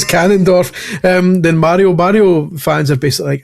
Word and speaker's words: Ganondorf: more invested in its canon and it's the pronounced Ganondorf. Ganon. It's Ganondorf.